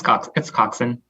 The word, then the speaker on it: coxswain: It's coxswain. Okay, it's just spelled weird. Yeah. Okay. It just spelled weird. Yeah. It doesn't sound like how it's pronounced.